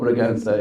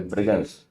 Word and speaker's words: Bragança: It's sometimes very difficult to pronounce any word. It is called Bragança, yeah. Bragança.